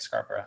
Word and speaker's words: Scarborough: Pronounced just like Scarborough, Ontario. Just like Scarborough, Ontario, or Scarborough, England.